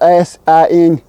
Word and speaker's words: Sinks: Of course, the whole getting lost and up in the town, Sinkus. It's spelled S-I-N-K-S. Sinks. I can't announce it, but the fact that